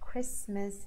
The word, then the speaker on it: Christmas: to what some good the word Christmas the T is silent and entertain in the